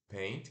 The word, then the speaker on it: paint: Se escreve P-A-I-N-T, paint, né? Mas se pronuncia P-E e curto N-T. P-E-I, paint, paint. paint, Então aí o pessoal que tem lá no Windows, né, tem aquele, nem sei se existe mais ainda. Esse aplicativo não é Paint, é Paint, tá?